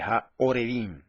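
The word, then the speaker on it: הָעֹרְבִים: La de arriba dice Ha-Arebim y la de abajo dice Ha-Orebim. La única diferencia entre esas dos palabras es que la de abajo se vocaliza con una A, que es la rayita que está debajo de la Ayin, que es la segunda letra, mientras que en el segundo caso, más abajo, se vocaliza con una O, que es el puntito que está arriba y a la izquierda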